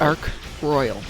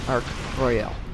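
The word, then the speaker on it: Ark Royal: It's Arc Royal, not Arc Royale. Royale. Different words. That's his pronunciation?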